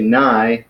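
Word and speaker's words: ναί: yes and no so yes you would say nigh and you know spell very similar to Chi except you got a new instead of a Kappa so nicer so if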